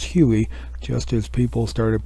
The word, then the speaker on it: Huey: Well, when you put HU-1, it becomes HUI, and people start pronouncing it as Huey, just as people started